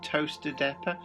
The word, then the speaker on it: Towcester: I really like the fact it's branded Return to Toaster Depot. Toaster in the UK, obviously spelled Towcester, but pronounced toaster.